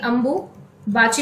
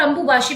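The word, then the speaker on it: Ambubachi: अब देखो ये अंबुबाशी मेला जो है, अंबुबाची भी बोलते हैं इसको, ठीक है, अगर हम कहें अंबुबाची भी बोलते हैं और अंबुबाशी भी बोला जाता है, दोनों नाम से मशहूर है, तो आप याद रखना।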